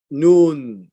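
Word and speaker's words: Nun: the son of noon is pronounced n-u-n is noon like noon time right the son of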